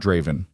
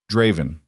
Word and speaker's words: Draven: Not Draven. Draven. three syllables. Everyone else mangles it.